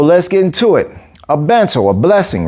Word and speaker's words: Bençao: And that kick is called Bençao. So it's spelled B-E-N-C with the little asterisk under it, A-O.